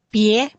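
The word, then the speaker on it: bie: Kira-kira gimana bacanya Kak Henny? Pi, Ada sebut E. Ada E-nya, dibaca E-nya. pi, pie, Yes.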